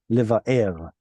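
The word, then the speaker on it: לבער: It should be liva'er. They say liv'or.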